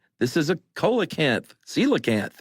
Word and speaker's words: coelacanth: this is a colacanth celacanth right well that's what he said at first and she went it's pronounced celacant he's like oh